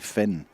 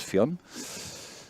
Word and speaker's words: Fion: So, it's Finn even though it's spelled F I O N. I always thought that was Fun, but it's Finn.